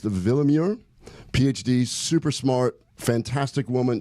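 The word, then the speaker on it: Willeumier: Kristen, it's spelled Willemure. It's pronounced Willemure.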